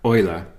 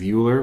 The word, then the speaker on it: Euler: streets adage and so if you would ask a german-speaking person how to pronounce his name they would say something like Euler there are two reasons